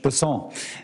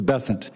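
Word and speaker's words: Bessent: Besson, I'm always going to pronounce your name as if it was in South Louisiana, and I'm going to pronounce it with a French Besson as opposed to Besant.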